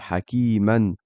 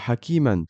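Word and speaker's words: حَكِيمًا: Et pour le deuxième mot, si je continue la phrase et que je dis hakiman et que je continue, à ce moment-là, je prononce également le tanwin et je ne prononce pas ce alif.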